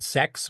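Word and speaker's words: SECS: He did Sex, which is kind of a play on words because it's spelled S-E-C-S, not S-E-X, which is a screen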